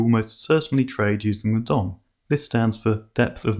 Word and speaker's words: DOM: certainly trade using the Dom this stands for depth of market some people pronounce this dome and others refer to